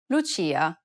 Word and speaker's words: Lucia: and i sounds together this sound is identical to the ch in church the only difference though is that it's stressed even more in italian than it is in english listen to the example